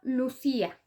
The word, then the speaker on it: Lucía: Por ejemplo, Lucía. Lucía lleva acento prosódico en la I y por lo tanto rompe el diptongo y genera un hiato. Entonces queda una palabra de 3 sílabas. Lu-ci-a.